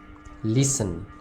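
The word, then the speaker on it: listen: इसमें am silent है लिसन इसमें टी साइलेंट है इस प्रकार यहां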